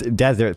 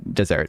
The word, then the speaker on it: desert: That is not it's desert theory. Um, one s, not two. But sometimes I, uh, I mispronounced it because when I initially heard Brunck talk about it, he said dessert, I think, or it